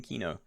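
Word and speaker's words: Kino: How did I come up with the name Keenoe? I was a COD fanboy. No, I did play a lot of COD games though. And one of my favorite zombies maps was Keenoe der Toten.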